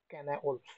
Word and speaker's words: Cynewulf: তো right short note on ক্যানা ওলফ, এটার উচ্চারণটা অনেকভাবে করে যায়, তবে ক্যানা ওলফটাই হচ্ছে সবচেয়ে বেস্ট।